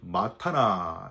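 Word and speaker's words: מַתָּנָה: 히브리어로는 마타나 이렇게 발음을 하는데요.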